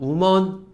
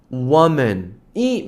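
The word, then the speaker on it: woman: 알고 계셔도 무방합니다 여성인거 우먼 해도 뜻은 통합니다 뭐 비슷한 단어가 없기 때문에 근데 이제 원음 자체는 원맨 워먼이 맞아요 그래서 우먼 아니고 앞에 걸 우어로 좀 바꿔 주시면 돼요 여자입니다 그죠 맨 남자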